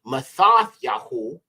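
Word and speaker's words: מתתיהו: would be renewed Covenant Matthew would be ma yahu in aari okay Ma yah and that means yah's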